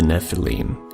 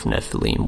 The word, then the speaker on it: nephilim: a scribal gloss indicating the base word of nephilim was originally pronounced with a long e this means of the